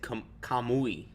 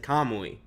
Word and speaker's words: kamui: You can hear me say the ui at the end.